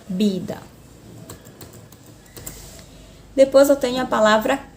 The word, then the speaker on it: vida: Porque o V tem sempre som de B na língua espanhola, tá bom? Se fosse a palavra aqui, vida, que também existe na língua espanhola. Na língua portuguesa eu pronuncio vida. Na língua espanhola, bida, bida.